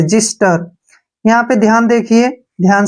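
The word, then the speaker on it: xyster: यहां पर एग्जांपल है एक्स वाई एस टीई आर ठीक है ना इसको हम पढ़ेंगे जिस्टर क्या पढ़ेंगे ऐसे जिस्टर यहां पर ध्यान देखिए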